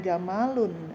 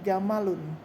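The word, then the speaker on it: جَمَلٌ: Kemudian unta jamalun. Bukan jamalun bukan ee jamalun bukan. Tapi jamalun ya. Tidak ada huruf alifnya.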